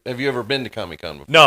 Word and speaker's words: Comic-Con: Indeed, I actually have you ever been to Comic-Con before? No, I I haven't been there. So, it's the big thing is San Diego ComicCon, but they pronounce it ComicCon like it's one word.